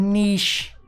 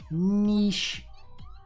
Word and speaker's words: niche: If you're out there, Velik, I said niche. Niche. I've been told I've been pronouncing it wrong.